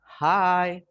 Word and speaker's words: hi: Hi. Nah, tulisannya sih he gitu ya, tapi bacanya hi.